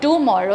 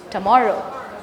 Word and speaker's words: tomorrow: The t is not tomorrow. It's not tomorrow. It's tomorrow. So the t has the schwa.